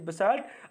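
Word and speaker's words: basalt: बसाल्ट कहिए या बसल्ट कहिए, जो भी कहना, प्रोनाउंसिएशन में ब्रिटिश इंग्लिश के साथ जा रहा हूँ तो उसे बसाल्ट कहा जाता है।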